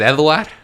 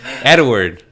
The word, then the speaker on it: Edward: So the guy's name is Eduard. No. See, I'm saying it like my dad. Edward. Edward is his name. Yeah. So my dad doesn't pronounce the D at the I feel end.